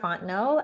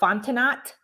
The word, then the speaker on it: Fontenot: was like let's know don't pronounce the t the t is silent um yes and then